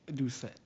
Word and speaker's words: Doucet: You can pronounce it Doucet.